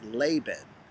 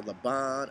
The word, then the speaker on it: Laban: call me here's the thing my name is laban do you know how many times my name has been mispronounced by people so i honestly don't even